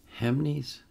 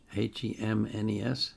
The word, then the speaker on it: Hemnes: The requester wrote this note, performed as an encore to her concert at, and I think this is pronounced, Hemnes, H-E-M-N-E-S, Hemnes, Bat and Fjord Festival, June 28th, 2015.